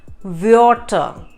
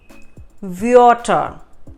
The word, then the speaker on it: Wörter: So, Wort, W-O-R-T, Wort is a word, and the plural form of that becomes Wörter. Wörter, W-O umlaut R-T-E-R. Wörter.